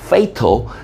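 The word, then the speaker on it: fatal: 그러니까 단순히 숨어 버린다의 내용이었으면 일본으로 갔을 수도 있겠지만 단순히 숨는다 이게 아니라 치명적일 수 있 자, 발음 조심. 파탈 아니고 페이터 치명적일 수 있는 그런 싸움에 그런 위험을 무릎 쓰는 걸 여기 있네요.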